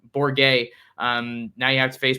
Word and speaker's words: Bourguet: Sorry, Bourguet. Bourguet.